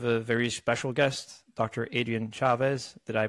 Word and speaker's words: Adrian Chavez: today we have a very special guest Dr Adrien Chavez did I pronounce that right yep you pronounced it correctly